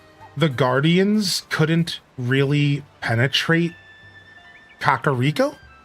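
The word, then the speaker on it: Kakariko: Yeah, Kakaro Village or even Kakar Rico Village. Nah, Zelda said it's Kakar Rico Village and now y'all have to accept it.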